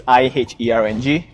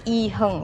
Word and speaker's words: iherng: It's iherng. Yeah, so go check it out because I review properties around Malaysia. Yeah. And that's pronounced as iherng, right? Iherng, yes.